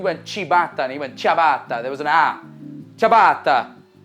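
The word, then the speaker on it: ciabatta: go about pronouncing it with a typical Italian pronunciation the way they would say it in Italy chab chab chabata all right so instead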